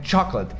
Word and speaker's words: chocolate: de X, só que no inglês o CH tem som de tipo tchau, então é chocolate. E a sílaba mais forte é a primeira, então é chocolate.